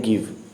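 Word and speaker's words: give: तो इसमें ई साइलेंट हो गया आपका, यहाँ ई साइलेंट और यहाँ भी ई साइलेंट।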